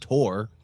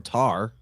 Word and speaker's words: Thor: We're about to drop the hammer, but Thor, or as you correctly mentioned, Tor or Tar, are other ways of pronouncing this name.